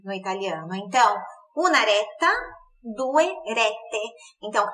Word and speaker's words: retta: E com cinco ou seis rete, reta em italiano é retta. Dois T's, daquele meio segundinho a mais ali na pronúncia do T, retta, ok? É reforçado, né? Visto que é duplo, é assim que funciona a consoante dupla no italiano.